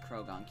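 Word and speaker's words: Croagunk: Is pronounced Crowagunk.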